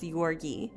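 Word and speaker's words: György: i mean she was her parents anna and yorkie is how i think you were pronounced it looks like george but i've heard it pronounced yorgi were very distant cousins and the way i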